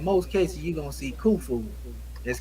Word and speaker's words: Khufu: that but in most cases you're gonna see Khufu that's k h u f okay so the